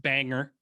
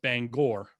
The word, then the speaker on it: Bangor: fairly far north up near bangor uh not pronounced bangor pronounced bangor maine near the university of maine but uh